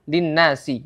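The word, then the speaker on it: لِلنَّاسِ: pada kalimat atau kata linnasi ya kata linnasi di sini ada Nun dengan tasdid ya Nun bertasdid di sini yang cara membacanya adalah dengan ghunah sebanyak dua harakat ya gunah dengan panjang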